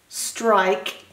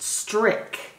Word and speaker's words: strike: Strike, if you took off the E, would be pronounced strick, but because the E is on the end of the word, it makes the I say its name.